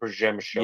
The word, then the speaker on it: Przemyśl: Somebody please correct me on the pronunciation of that. I really don't know Polish, unfortunately. Przemyśl.